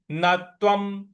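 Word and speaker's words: न त्वं: तो नत्वम नत्वम नत्वम शोचितु मरहसी शोचितु मरहसी नत्वम व के ऊपर जो अनुस्वार है उसका उच्चारण हमको म ले आना है।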